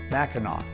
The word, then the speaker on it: Mackinaw: French-Canadian fur traders transliterated the word and pronounced the final consonant as aw rather than as a hard C. Later the British truncated the word and changed the spelling to match the French pronunciation, Mackinaw.